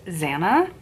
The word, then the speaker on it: Xanna: of a name, but I'm assuming it's pronounced Xanna, because typically X's are pronounced as a Z.